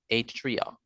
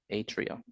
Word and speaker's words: atria: a yes all right so we call it at Trio Atria so let me say it again let me